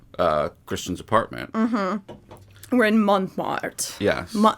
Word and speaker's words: Montmartre: christian's apartment we're in montmartre yeah how do you say it monmar it would be montmart because it's m-a-r-t-r-e right there's two so